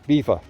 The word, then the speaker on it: Belvoir: the crown so overall beaver castle has been used as a royal resident location on several films through the past although written as belvoir it is pronounced as beaver which means beautiful view